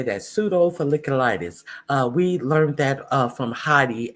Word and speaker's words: pseudofolliculitis: providers 90 days to reevaluate Marines diagnosed with pseudofolliculitis barbae, I think is how you say that. Pseudofolliculitis barbae, or Yes, that's how you say that, pseudofolliculitis.